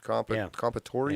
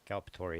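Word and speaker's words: culpatory: Compatory, is that how you say it? Calpatory, yes. Calpatory.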